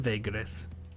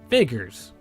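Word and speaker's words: Vaegirs: Back in the kingdom of Vagris. Vagris. Vigors. My bad. I know I've been mispronouncing it the entire game.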